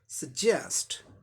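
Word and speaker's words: suggest: तो क्या हो जाएगा, सेकेंड सिलेबल पर स्ट्रेस है, क्योंकि ये पहला सिलेबल प्रीफिक्स है, प्रीफिक्स के ठीक बाद यहाँ स्ट्रेस है। सजेस्ट, सजेस्ट, सजेस्ट, सलाह देना, सजेस्ट।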